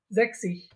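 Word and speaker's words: sechzig: যখন একটা এস দিব, খেয়াল করবেন এই যে আমরা যে জেড বলে থাকি, জার্মান এটাকে বলে সেট, এই সেটটা অনেকটা এস এর মতো উচ্চারণ হয়, তো দুইটা এস একসাথে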